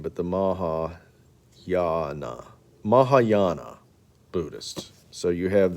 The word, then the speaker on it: Mahayana: and laos now the uh the ho that pronunciation is terrible maha yana mahayana buddhism mahayana buddhism teaches that buddha is